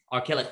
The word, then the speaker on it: Archilochus: on a fragment from, and I can never pronounce the poet's name, if someone wants to, this fragment. Say it again, John. Archilochus.